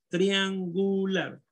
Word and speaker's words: triangular: Triangular, de triángulo, triangular. Sílaba tónica en este caso. ¿Cuál es? An, maestro. ¿Ah? An. Trián, correcto. Triangular, no. Triangular. Triangular. Lar. Lar, correcto.